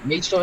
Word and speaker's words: magesoul: A lot of people, a lot of people don't know how to pronounce it. They call it magesoul. I don't know. But yeah, magesoul it is.